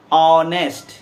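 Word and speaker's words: honest: जैसे हम कहते हैं ऑनेस्ट, तो ऑनेस्ट जब बोलते हैं तो एच आता है, तो एच जो है वॉवेल नहीं है, ये कॉन्सोनेंट है, लेकिन हिंदी में उच्चारण जो है औ से होता है जो वॉवेल के रूप में है, स्वर वर्ण के रूप में है। हिंदी में वो स्वर वर्ण है, इसलिए ऑनेस्ट के पहले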